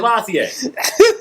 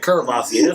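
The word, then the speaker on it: Courvoisier: How'd you say that again? Cavassier. He said Curvassier. That's how it's spelled. C-O-U-R.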